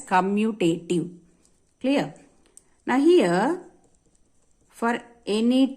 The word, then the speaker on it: commutative: second property as commutative so most of the students when they pronounce it they go always say it wrong they may they commutative something else some other words they'll be using but actually we pronounce it as commutative clear now here for